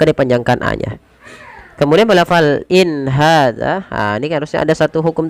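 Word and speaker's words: إن هذا: Izhar halqi yaitu izhar yang dibaca dengan jelas. Maka cara membacanya bagaimana? In hadza. Tidak ada penahanan in ya, tapi dia jelas saja.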